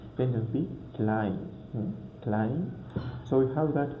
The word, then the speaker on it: Klein: So we pronounce it as I. For example, we have that word Klein. Klein.